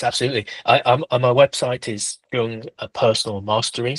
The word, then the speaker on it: Jung: I my website is Jung Personal Mastery. So Jung spelled J U N G. Often people think mispronounced as Yung.